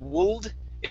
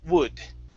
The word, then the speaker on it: would: All right, and this word here, okay, the L is taken out. So instead of wooled, it's wood.